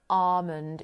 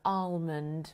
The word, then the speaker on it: almond: Another big one is this word, almond. Almond. You will hear people saying almond or almond. Officially, it should be almond.